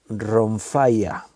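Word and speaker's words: rhomphaia: en el griego se utiliza otra espada, la ronfaia. Se escribe un poco raro, te lo voy a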